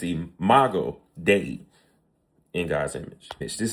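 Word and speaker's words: imago Dei: So, one thing we learn is a mega a mega dia. I might have jacked that up, but it is imago day.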